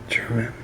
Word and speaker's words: Jermyn: How do you say that? Jermyn? Jermyn? I guess it's Jermyn.